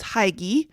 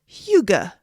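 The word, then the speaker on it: hygge: to pronounce it wrong it is not what I thought I thought it was Hai but it's Huga and Huga it's about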